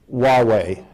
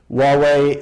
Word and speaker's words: Huawei: issue of Chinese equipment, Huawei, spelled Huawei, rhymes with Amway. Huawei and their alleged fierce competitor, ZTE.